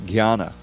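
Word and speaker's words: ज्ञान: For instead of for it's jnana, but there really is, it's supposed to be a little bit of an N sound, jnana, but that Y has to be in there.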